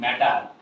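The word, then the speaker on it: matter: এম A double T ইয়ার। আমরা সারা জীবন কি বলছি? ম্যাটার। ম্যাটার বলবো না, কি বলবো? ম্যাটার। ম্যাটার। ড হবে এম এ, দেখো ই একটা ভাওয়েল সাউন্ড, ই একটা ভাওয়েল,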